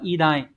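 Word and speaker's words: 偉大: Số 2 đọc là idai.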